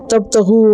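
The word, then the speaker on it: تبتغوا: नून उड़ गया, और ये जो अलिफ है ये सिंबल है किस चीज़ का, कि यहाँ नून ड्रॉप हुआ है, वरना इस अलिफ की कोई वजह नहीं है, इसको पढ़ते नहीं है, साइलेंट है। तब तगू वा नहीं पढ़ते इसको, तब तगू है, और ये अन की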